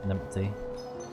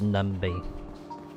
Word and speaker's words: Numby: me to this time numpty or numby hard work pays off numpty I think that's cuz uh British sayings numpty used to saying that but it's numby at least you got